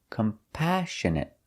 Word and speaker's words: compassionate: We put the stress on the second syllable, compassionate. Compassionate means you feel sorry for other people.